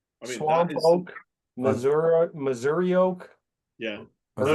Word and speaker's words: Missouri: I mean, Swamp oak, Missouri oak. Yeah. So you said it right. Missouri is how it would be said in Missouri.